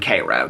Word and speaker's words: Cairo: They live in Cairo, Georgia, which looks like Cairo to all of us.